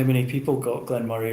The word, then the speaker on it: Glen Moray: I was saying Moray like a Moray eel, and that's not like I always say as in Andy Murray, like the tennis player.